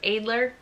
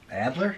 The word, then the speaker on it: Adler: I think technically it's pronounced Adler because it's German.